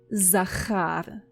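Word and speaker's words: זכר: You say Zachar.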